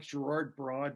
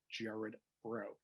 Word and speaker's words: Gerard Braud: It looks like Gerard Braud, but I'm Cajun French, so I get the weird pronunciation, Gerard Braud.